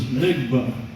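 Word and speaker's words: NGBA: We had called that airplane Next Generation Business Aircraft, and that pronounces NIGBA. Now, if you say NIGBA nowadays, it's not a good thing to say.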